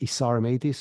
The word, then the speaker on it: Isar Meitis: that's the best place uh my name is isar mtis it's spelled i s a r m itis it's